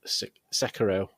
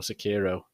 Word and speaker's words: Sekiro: It's called Sekiro or Sekiro, depending on how you pronounce it.